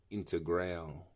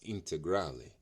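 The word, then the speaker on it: Integrale: trouble pronouncing that some I hear some people say uh into ground no it's integrally it's Italian you know you got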